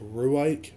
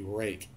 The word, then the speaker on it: Ruike: It's a company called Rake, and from the lettering, you would think it's pronounced Ruike, but it's actually Rake.